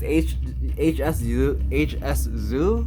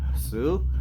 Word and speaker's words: Hsu: If you want to know, and I don't want to cast dispersions or anything, but because HS Zoo, I think they're pronounced, or just Sue, they're great, and don't sue me.